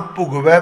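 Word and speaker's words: ਭੁਗਵੈ: हुण इत्थे उच्चारण सानू जो समझाया गया, दीर्घ नहीं करना, लघु करो, भोगवै नहीं करना, भुगवै।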